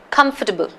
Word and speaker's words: comfortable: we constantly keep using comfortable in fact the second syllable is almost not even pronounced if you hear the pronunciation it's comfortable comfortable you don't even